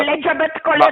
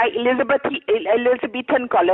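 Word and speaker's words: Elizabethan collar: एलिजाबेथ कॉलर नहीं होता, एलिजाबेथन कॉलर होता है।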